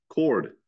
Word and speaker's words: chord: a c or k why do you got to use a CH but pronounce it like it's a c or a k whatever it's chord um